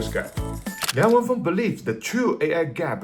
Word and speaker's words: Liang Wenfeng: At a recent invest meeting, founder Liang Wen-feng, this is the accurate Chinese pronunciation, Liang Wen-feng, spent nearly 4 hours frankly responding to all the questions almost that outside world really concerned about.